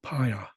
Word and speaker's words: paya: So they replaced it with a P. So that's how fire became paya.